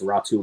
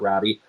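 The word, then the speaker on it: Räty: and I know that the spelling on his name doesn't match the pronunciation, but that's how it's pronounced. It's Ratu, not Rowdy.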